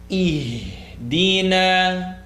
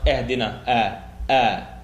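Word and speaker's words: اهْدِنَا: It is the E sound followed by the ha. Ihdina. Very commonly pronounced ihdina.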